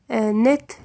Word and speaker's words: net: net تنطق net للمذكر كما المؤنث، رغم أن T à la fin لا تتبعها E، لكنها تنطق كذلك net.